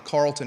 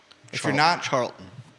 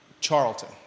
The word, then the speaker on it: Charlton: situation going on on Carlton Avenue yeah Charlton Charlton gosh I you told me how to say it in the beginning and I still messed it up didn't I yeah because there's Carlton